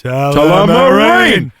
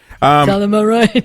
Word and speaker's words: Tullamarine: Tullamarine. Tullamarine.